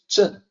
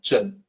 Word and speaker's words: 正: This character is pronounced zhen. So zeng in pinyin is the closest that we can come to for the actual pronunciation, zhen.